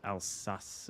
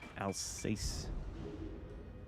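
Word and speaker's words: Alsace: shoot at the elace I know it's pronounced alas or alace by the way somewhat painful there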